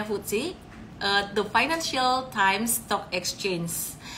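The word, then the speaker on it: FTSE: quarterly review futsi itu futsi ditulisnya ftsi Tapi bacanya futsi eh the financial stock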